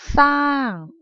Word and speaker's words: สร้าง: กัน เลย นะ คะ สน คำ ว่า สร้าง ถึง จะ มี สอเสือ กับ รอ เรือ คู่ กัน จริง นะ แต่ ว่า อะไร คะ แต่ ว่า อะไร คะ ลูก มัน ออก เสียง ซอ โซ่ ใช่ ไหม คะ สร้าง สร้าง ใช่ ไหม คะ ไม่ ใช่ คำ